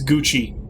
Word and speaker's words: Gucci: but yeah it's uh it's gucci you have to use the italian pronunciation of the two c's who saw me you're